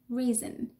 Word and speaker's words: reason: So second person reason. So it's not an O, it's a schwa.